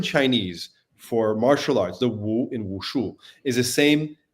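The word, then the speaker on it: 武: for martial arts, the Wu in Wushu, is the same pronunciation as the Wu in Wudao, which means dance. So these two words, Wu and Wu, pronounced exactly the same but written differently.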